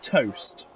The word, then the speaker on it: Tost: Tost. Yeah. Right, well, I met with Mr. Tost. I think it's pronounced toast without the A, in a way, if you know what I mean.